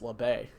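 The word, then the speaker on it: Labbé: top five finish alex lebay figured out how to say his name during a day race last week it's Labe got it 9200 starts 19th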